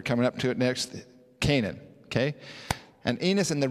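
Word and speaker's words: Cainan: Now, if you notice the word Canaan here, it's spelled C-A-I-N-A-N. That is different than the word Canaan that we're typically used to over in the old world, which is spelled C-A-N-A-A-N. Okay, so this is spelled a little bit differently, but phonetically it's the same.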